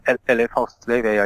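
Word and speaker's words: Éliphas Lévi: changed his name to LFS Levi. That's how I pronounce it, or LFS Levi, I guess, if you're trying to sound French, and which he said was a Hebrew transliteration of his own name.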